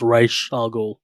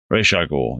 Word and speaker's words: Ra's al Ghul: So in the movie they pronounce it Ra's al Ghul, but it's supposed to be pronounced Ra's al Ghul. Ra's al Ghul.